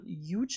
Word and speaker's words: Huge: Huge, is that the right pronunciation? Huge, yeah.